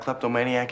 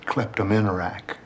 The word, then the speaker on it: kleptomaniac: You know what a kleptomaniac is, Mr. Matlock? Yeah. I used to know a fellow that pronounced that word kleptominerac.